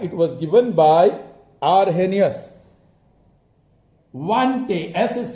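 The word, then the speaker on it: Arrhenius: by arhenius all right it was given by arhenius is silent he was from sweden in 1884 he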